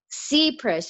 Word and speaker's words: Seprish: your last name supress it's ZBrush it's a long e C press okay i i'm always